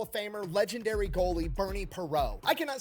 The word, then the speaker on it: Parent: Future Hall of Famer, legendary goalie Perau. It spells parent unless that's supposed I'm assuming that's supposed to be your French pronunciation.